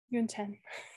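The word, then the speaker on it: Yonten: oh uh y-o-n-t-e-n yep so like rhymes with moon 10 like the number 10 you're in 10.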